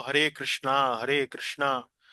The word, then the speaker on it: कृष्णा: इसलिए, सही उच्चारण है 'हरे कृष्णा, हरे कृष्णा, कृष्णा कृष्णा, हरे हरे, हरे रामा, हरे रामा, रामा रामा, हरे हरे'।